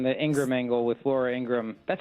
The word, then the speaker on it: Ingraham: And this Thursday, I'll be on the Ingram angle with Laura Ingram.